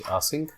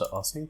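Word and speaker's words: async: here paste Here and Now mark this is ass sync okay it's a sync okay now what we need to do just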